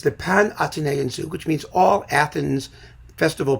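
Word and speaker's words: Panathenäenzug: Domestica and the Panathenaeenzug, the thing that nobody can pronounce, but as I say in the book, it's actually easier to pronounce than you think. It really is. It's the Panathenaeenzug, which means all Athens festival procession, essentially.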